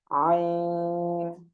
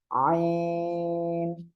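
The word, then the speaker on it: عين: এটাও গলার মধ্যখান থেকে আমরা উচ্চারণ করব, গলাটা চেপে হালকা উচ্চারণ হবে আইন। অনেকেই আইন এমন উচ্চারণ করে, এটা করা যাবে না। আইন আমরা এভাবে উচ্চারণ করব।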